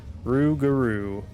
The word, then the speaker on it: Rougarou: The Rougarou could provide the Rougarou, that's how you pronounce that. Rougarou.